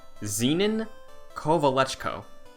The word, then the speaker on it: Zenon Kovalechko: Zenon Kovalechko is the correct pronunciation, but they gave us props for the attempt.